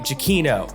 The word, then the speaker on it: Giacchino: as uh how do you say his name kiachino jaquino thank you aquino oh my goodness okay you would think i would learn his name right giakino okay so his career has continued since his